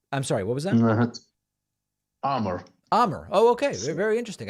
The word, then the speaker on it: Amr: It's just AMR, which doesn't. It seems like there should be another vowel in there somewhere. I'm sorry. What was that? Amr.